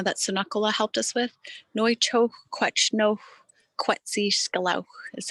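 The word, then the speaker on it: Nu chexw kw’átchnexw kwétsi sḵel̓áw̓: inter interviews um even a recording how to pronounce the project uh that tsunakola helped us with noicho no quetzi scalau is how you say it and you know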